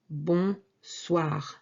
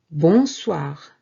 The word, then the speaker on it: bonsoir: Now, good evening will certainly have bon, and it's going to be bonsoir. Bonsoir. Bonsoir. Bonsoir. Maintenant, répétez après moi. Repeat after me. Bonjour. Bon après-midi. Bonsoir.